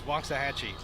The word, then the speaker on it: Waxahachie: freshman from waxahachie texas thank you to wyattlock for telling me that i was pronouncing that incorrectly it is waxahachie she serves it away